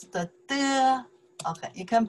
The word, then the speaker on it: 得: You can pronounce the de. Okay, you can pronounce the de. Also, you can pronounce the de. The third tones, okay?